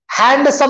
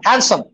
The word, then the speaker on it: handsome: चलिए next, how do you pronounce it? Handsome। डी लिखे हुआ है ऊपर, जो बचा हुआ डी कर दो। हैंडसम नहीं बोलना, हैंडसम, हैंडसम।